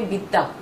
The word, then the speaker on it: Vidya: When you were in Kolkata, did people actually call you Vidya? In Kolkata, people always call me Bitta. That's how they pronounce the name.